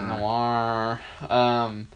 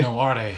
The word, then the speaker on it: Noire: Noire. Which is really weird because it's spelled, it's got an E. Yeah, I hate that. That bugs me. I'm like, why? Noire.